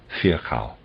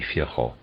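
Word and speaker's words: Virchow: Viral is spelled V I R C H O W Fhao or maybe Fho.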